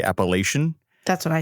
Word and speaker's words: Appalachian: Appalachian. What did I say? You get a lot of people that aren't from this area say Appalachian.